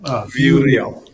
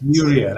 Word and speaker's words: VueReal: by Resa from Vu I hope I'm pronouncing the name of the company right it's a v vew VI real yes VI real and you know resa